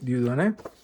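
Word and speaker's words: Dieudonné: some points set topology metric space an old paper by Dudon Dudon Dudon that's how you pronounce it dudon tonser bugner very good book.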